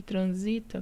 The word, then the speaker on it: transita: Transita já muda a sílaba tônica, por isso não recebe acento, e é uma paroxítona porque é a penúltima sílaba tônica.